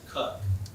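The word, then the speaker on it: Coke: Lord Cook, which is spelled like the cola, C-O-K-E, but if you go to Britain, you have to pronounce it Cook.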